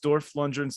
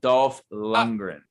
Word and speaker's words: Dolph Lundgren: And I watched Dorf Lundgren's The Punisher alone.